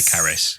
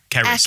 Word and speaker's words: Caris: Caris, I'd say I'd say Caris. Yeah, it's a Welsh name. I believe Caris.